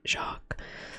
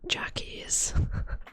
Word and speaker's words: Jacques: So when I was a kid, I used to not know how to say Jacques. So I would call him Jackie because I had no idea how to say it.